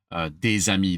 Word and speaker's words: des amis: I'm going to take that S of des, which I'm not pronouncing usually, and I'm going to create a bridge because the next word starts with a vowel.